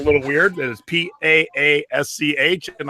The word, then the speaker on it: Paasch: It is Paasch, and I said, how do you say it? And she goes, just like Posh Spice.